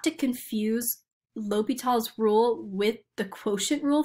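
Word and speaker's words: L'Hôpital's: we have to use l'hopital's rule i sometimes call it l'hospital just so i can remember how it's spelled and also that's what it looks like um but i'm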